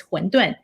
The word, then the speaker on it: 馄饨: China, is called wonton, which is in Chinese Mandarin, it's 馄饨. In English, it's wonton. It's more like Cantonese pronunciation.